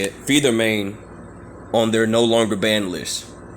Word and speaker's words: phentermine: how you say it feed their main on their no longer banned